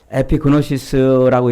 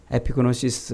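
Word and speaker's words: ἐπίγνωσις: 에피그노시스라고 이렇게 발음을 하는데 이 말이 구약성경 창세기 4장 1절에 가면은요, 아담과 하와가 동침했다.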